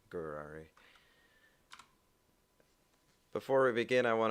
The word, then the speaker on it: Gurari: It's pronounced like Ferrari, but with a G, so Gurari.